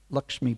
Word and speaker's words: Lakshmi: But sadly, whilst away, the Lord's first wife, Lakshmi Priya, or Lucky Priya, if you speak Bengali pronunciation, passed away due to intense separation from her husband.